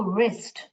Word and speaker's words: wrist: चूड़ी पहनते हैं उसको wrist, wrist. और W मैंने गोस्ट लेटर्स में सिखाया था आपको. W यहाँ पे साइलेंट है, यहाँ पे L साइलेंट है, यहाँ पे B साइलेंट है.